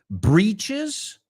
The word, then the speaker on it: breeches: So you can say breeches, B-R-E-E-C-H-E-S, and britches, B-R-I-T-C-H-E-S. In ambos casos, they are not homophones.